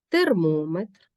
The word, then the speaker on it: термометр: наголошеним дециметр сантиметр кілометрів проте у назвах прикладів наголос падає на сполучний голосний термометр хронометр гідрометр у словах